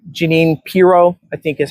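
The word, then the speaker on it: Jeanine Pirro: Janine Piro, I think is how you pronounce it, and is now the US attorney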